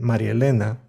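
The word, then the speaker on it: María Elena: names like jose luis or maria elena are pronounced jose luis and marielena in the same matter that marianne and billy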